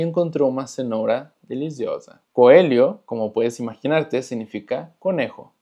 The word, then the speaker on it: coelho: Coelho, como puedes imaginarte, significa conejo. Recordando que la LH se pronuncia como li, entonces es coelho.